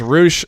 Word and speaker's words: Rush: If it's Roosh, spell it R-O-O-S-H. Thank you. Or even R-O-U-S-H. Give me Roush. something. Don't spell it Rush and tell me that it's going to be freaking different.